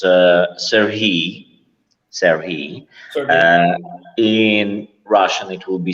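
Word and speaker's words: Сергій: In Ukrainian, it's a little bit different from Russian. It's Serhiy.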